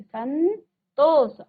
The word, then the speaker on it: संतोष: अनुस्वार बनाने के बाद उच्चारण तो वही आएगा। सन और अंतिम और शब्दों को आप ऐसे ही लिखेंगे। संतोष। अब हम सम नहीं कह रहे हैं। हम कह रहे हैं सन। संतोष। ठीक है?